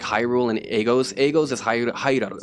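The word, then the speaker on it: ハイラル: Agos is Hairaru. So how do you say in Japanese? Hairaru. Hairaru. Hairaru.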